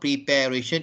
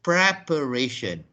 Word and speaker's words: preparation: this is our preparation so it's not prepare ation it is preparation prepare and preparation so